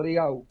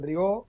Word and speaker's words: Rigau: Mirá, nosotros le decimos Rigau. Rigau. En algunas transmisiones escuchamos que le dicen Rigó, pero bueno, nosotros le decimos...